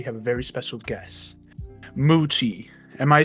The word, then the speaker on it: Muchi: himself my name is moochie uh m-u-c-h-i pronounced m-o-o-c-h-e-e muchi the noise of